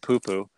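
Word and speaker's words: Pupu: One of the first times I called a race with Poo Poo being in the race, and just everybody, you know, it is spelled P-U-P-U, but anyways, first time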